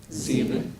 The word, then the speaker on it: sieben: So S, how are we pronouncing S? Z. Z, no? We are pronouncing like Z. Z, V heißen Z, isn't it? Yeah, woher kommt Z? So it is sechs and sieben when it is in the beginning.